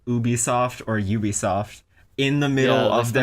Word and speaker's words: Ubisoft: talking about whether or not it was called Ubisoft or Ubisoft in the middle Yeah, they of spent their a long time in pre-show the live pre-show.